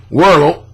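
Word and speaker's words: Wuerl: Werl, how you pronounce his name? W-U-E-R-L, initially questioned B-E-N-D-I-G-S accounts, but later accepted it and moved on to oust C-I-P-O-L-L-A from the priesthood. The Vatican highest court ordered Werl to restore the whole.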